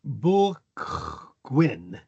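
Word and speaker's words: bwlch gwyn: Let's see, the c h is a guttural sound. So, sort of like bulch gwyn.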